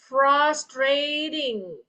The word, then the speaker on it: frustrating: Nah, T-nya ini kita baca sebagai D. Frustrating. Okay, listen when I say doesn't sounds like a T.